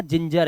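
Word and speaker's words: ginger: आराम से पढ़ लोगे इसी तरह से यहां पर जी के बाद आई लगा हुआ है तो इसे आप गिंग अब नहीं पढ़ोगे जी के बाद आई है रूल चेंज हुआ आपने कहा जिंजर है ये जा ही पढ़ लोगे इसको तो अब आपसे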